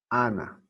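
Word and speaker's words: ἀνά: Ana. Así se pronuncia.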